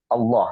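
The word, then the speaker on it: الله: itu harus karena iniim Allah ini adalah tafim maka kita bacanya tebal ya berbeda dengan bismillah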